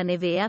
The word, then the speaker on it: Neveah: Alessia Macari e il marito Oliver Kragle hanno scelto di chiamare la loro primogenita Nevea perché è un nome particolare e internazionale.